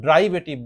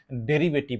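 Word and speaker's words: derivative: অনেকে এই শব্দটির উচ্চারণ ড্রাইভেটিভ বলে না। এই শব্দটির সঠিক উচ্চারণ হচ্ছে ডেরিভেটিভ মোড।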